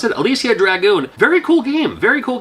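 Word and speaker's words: Alisia Dragoon: This is Alicia Dragoon. I believe it's how you pronounce it. Alicia Dragoon.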